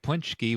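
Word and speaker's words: pączki: Well, And just like to bring it back, what we just said, you wouldn't think Punchki would be spelled Paczi.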